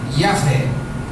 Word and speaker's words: Yahvé: E as 4 juntas com as letras do nome Jeová, dá a pronúncia livre Yahvé.